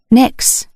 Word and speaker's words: Nyx: "Nyx?" I said aloud, and I could have sworn the kitten gave a nod of approval. I pronounced her name to rhyme with tricks, as she seemed like a tiny trickster.